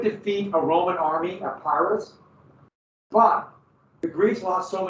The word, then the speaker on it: Pyrrhus: Oh, Pyrrhus. So that was the defeat by the Greeks and Epicurus. And they would defeat a Roman army at Pyrrhus, but the Greeks lost so many men that